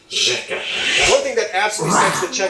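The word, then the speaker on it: řeka: When you see it in a word, it's pronounced differently. You don't see here ersh eka. This means river, by the way. Instead, it's pronounced rzeka.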